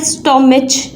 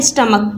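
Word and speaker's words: stomach: अच्छा बेटा, ये जो वर्ड है स्टोमिच हम पढ़ रहे होते हैं, मैंने अक्सर बच्चों को सुना है स्टोमिच पढ़ते हुए, तो ये है स्टमक। ठीक है, स्टमक, आप इसकी प्रोनाउंसिएशन ठीक कर लीजिए।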